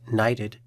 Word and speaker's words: NYTD: NYTD, pronounced NYTD, is the National Youth in Transition Database.